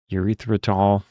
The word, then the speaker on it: erythritol: I looked up the pronunciation of it and I already forgot. So it's erythritol.